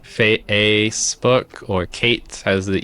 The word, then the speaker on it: Kate: I have a terrible experience on this because my name is Kate. Yes. But usually a lot of students will uh call me hey teacher cat teacher cat.